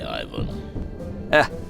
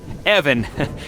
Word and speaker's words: Evan: You might have saved my life today, so ask away, Ivan. Evan. It's pronounced Evan, with a short guttural.